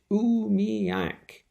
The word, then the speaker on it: umiak: mother her children dogs and supplies umiyak is pronounced umiyak that's interesting v whoa that looks like a